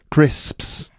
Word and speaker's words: crisps: you say that listeners crisps crisps that's that's cam that can be a difficult word for people to pronounce it is i think it is it's it's like crisps and also wasps oh yeah wasps those